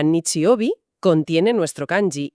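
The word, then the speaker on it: 日曜日: Resulta que el domingo que se pronuncia Nichiobi contiene nuestro kanji y significa literalmente el día del sol.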